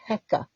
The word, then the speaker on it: Heka: And so the creator creates one last thing, which, as best as we can recreate the Egyptian pronunciation, was something called Heka, Heka, as we spell it.